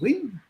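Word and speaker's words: Nguyen: His name was Jonathan Wynne. And when you see NGUYN, it's pronounced Wynne.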